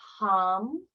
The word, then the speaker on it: Ham: It's Ham, H-A-M, spelled like ham. It's Ham, like you're going to the dentist and saying, ah, ham, ham.